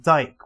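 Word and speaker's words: Dyck: thought it was spelled dick but with like a y but turns out my teacher my teacher like my it's actually pronounced Dyke which is somehow worse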